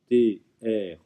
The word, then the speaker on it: treuve: alors ici on a une ancienne orthographe du verbe trouver, T-R-E-U-V-E, ne nous treuve, c'est comme ça qu'il faut le prononcer, mais c'est bien le